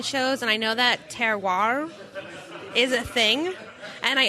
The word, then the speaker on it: terroir: the rain the soil composition really changes the terroir I don't even know if i'm pronouncing it right you're spot-on yeah tell say